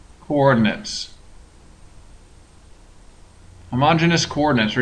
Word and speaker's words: homogeneous: a name it's called homogenous coordinates homogeneous coordinates or you may also hear this pronounced homogeneous coordinates but I like homogeneous better so I'm going to say it that way so the homogeneous coordinate